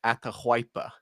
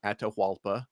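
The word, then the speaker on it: Atahualpa: And I know this is because it's a Ketwa word, but it's atypa, not atalpa, but it's atypa.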